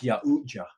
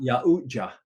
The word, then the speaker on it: Yautja: It's Yautja. That's the way you pronounce it. Yautja.